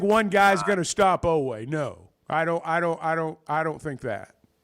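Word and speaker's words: Oweh: Oakway, right? Oakway. Am I saying it right? Otega Oway.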